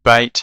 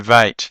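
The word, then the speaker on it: בית: In the song, the letter bait is said bait and then vait. That's the hard and the soft sound. The hard b and the soft v, but it's the same letter.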